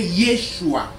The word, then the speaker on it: Yeshua: choix était pas rien donc communément prononcé yeshua au premier siècle la naissance virginale des